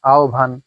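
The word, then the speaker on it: আহ্বান: এখন হ যোগ ব আছে কিন্তু হ ব কিন্তু উচ্চারণ হয় না। উচ্চারণ হয় অন্য কিছু।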